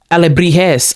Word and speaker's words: alebrijes: I believe that's how you pronounce it. Oh, alebrijes.